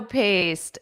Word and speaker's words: paste: I just forgot to get tomato paste. Exactly. You need an E at the end or else it's pronounced past. Paste.